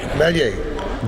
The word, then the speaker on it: Maillet: Maillet. Double L in French is pronounced like an I.